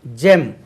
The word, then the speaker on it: gem: அடுத்தது GEM, ஜெம்.